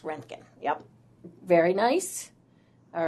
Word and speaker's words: roentgen: even though it looks like rongkhun it's typically pronounced roentgen yep very nice all right let's see how